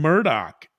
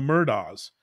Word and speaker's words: Murdaugh: it a little bit even the last name Murdoch which you know to me when I first saw this case I said oh the murders but no it's it's not pronounced that way